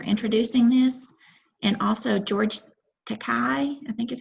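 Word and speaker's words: Takei: very good for introducing this and also george takai i think is how you say his name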